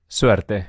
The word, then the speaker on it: Suerte: Suerte.